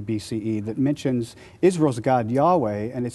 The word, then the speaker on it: Yahweh: God who is has a name Yahweh pronounced something like your way but they also worshiped